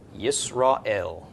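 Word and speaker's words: ישראל: end so yes raw I love this silent go right into the vowel ale yes raw ale we know in English as Israel okay the name that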